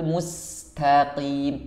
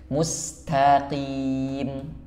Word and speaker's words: mustaqim: menjadi hilang ih Nah huruf tho juga sama banyak yang membacanya HAM ah itu kurang tepat mustaqim must dilebarkan karena dia masuk huruf tarqib mustaqim ihdin mustaqim mohon maaf